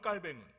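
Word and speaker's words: Jean Calvin: 옛날에는 영어식으로 이 존 칼빈이라고 했는데 켈빈. 근데 저는 존 켈빈이라고 하는 걸 싫어하고요. 그냥 프랑스 발음으로 장 거뱅 또는 깔뱅 이렇게 합니다. 그래서 그냥 저는 제가 장씨이기 때문에 그냥 프랑스 발음으로 장 깔뱅이라고 합니다.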